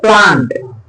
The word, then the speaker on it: plant: watering দা, কি বলবে, এটা উচ্চারণ প্ল্যান্ট নয়, প্ল্যান্ট মানে রোপণ করা, বুঝলে, আর এটা হচ্ছে কি, হ্যাঁ, স্যাপলিং বলতে পারো, আর না হলে যেটা বলতে কি সেটা হচ্ছে কি উচ্চারণটা হবে প্লান্ট, বুঝা গেছে, মানি প্লান্ট, মানি প্ল্যান্ট বলে আর কি না, হবে মানি প্লান্ট, বুঝা গেছে, প্লান্ট মানে